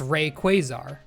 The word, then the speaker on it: Rayquaza: And second, it's obviously Quaazar because it's Rayquazar. Rayquaza, come on.